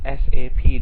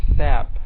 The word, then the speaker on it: SAP: SAP should be pronounced as SAP, not SAP. Okay, that's very unprofessional and very wrong.